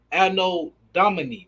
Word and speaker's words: Anno Domini: AD, which stands for which is pronounced Anno Domini or Domini, which means the year of our Lord.